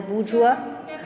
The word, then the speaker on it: bourgeois: That is, patriotism is a bourgeois sentiment. Underline the word bourgeois. It's pronounced as bourgeois.